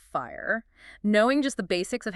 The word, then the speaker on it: FHIR: Or FHIR, which we pronounce fire.